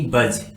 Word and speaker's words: budge: आता है तो उस वर्ड में हमेशा डी साइलेंट होता है, जैसे कि बज, BUDGE बज, JUDGE जज, BRIDGE ब्रिज, LEDGE laser, LODGE laws, EDGE एज।